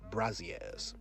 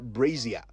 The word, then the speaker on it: brassiere: only wealthy women wore braziers today however we must all learn to say it right regardless of our financial status so it's brazier not brazia or you could just